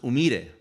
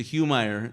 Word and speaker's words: Umire: It comes from Peru, and it's pronounced Umire. But if you could get a sergeant major of the Marine Corps to say Umire, you're a better Marine than me. So it ended up turning into Humeyer in the Marine Corps,